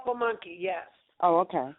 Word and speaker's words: Pamunkey: They were called Pamunkey, yes. Oh, okay. How do you spell it? Say it again, please. Pamunkey.